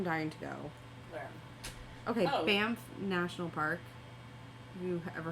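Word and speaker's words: Banff: that I am dying to go where okay bamp National Park have you ever heard of it bamp is that how you spell it or pronounce it B ban B an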